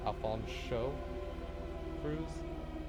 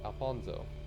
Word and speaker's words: Alfonso Cruz: worse at singing acapella alfonso cruz pronouncing the sh sound is very important so alfonso show crews he just offended if you pronounce it as alfonzo floyd winters unfortunately his